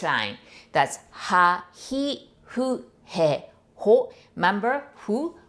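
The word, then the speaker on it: ふ: That's ha, hi, hu, he, ho. Remember, hu? We don't have the F sound, right? So we pronounce it like hu, as if you're blowing candle.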